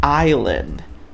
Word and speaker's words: island: Só que olha só, a pronúncia aqui, ó, é island, island, island, ok?